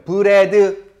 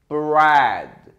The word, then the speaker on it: bread: 이걸 또 이런 분들이 있어요. 브레드, 브레드. R 발음은 혀가 천장이 되지 않습니다. 한번 같이 읽어볼게요. Bread.